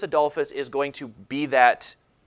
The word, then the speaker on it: Adolphus: Gustavus is spelled G-U-S-T-A-V-U-S. Gustavus Adolphus.